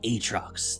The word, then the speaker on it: Aatrox: to hit the live servers he is called atrox the darken blade apparently that's how it's pronounced yes complete with the deep voice that's